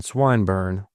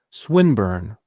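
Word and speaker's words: Swinburne: "This man, Swinburn," he began, attempting to put his plan into execution, and pronouncing the I long. Who? Swinburn, he repeated with the same misprononunciation. The poet. Swinburn, she corrected.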